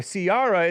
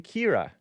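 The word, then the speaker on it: Ciara: all right all right that's enough soraa oh Siara is actually kiar K huh Sara is actually Kira according to this when you see an Irish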